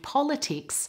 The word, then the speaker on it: politics: And the last one, the stress is on the first part of the word.